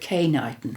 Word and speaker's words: Knighton: For in the summer of 1979, Margot had been called to, we call it K-Knighton here. It's spelt Knighton with a K, but we have the Knighton with an N and K-Knighton, to K-Knighton Gorges on a rescue mission.